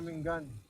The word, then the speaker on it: Umingan: Umingan pare, Umingan ng pang pronounce dyan, Umingan.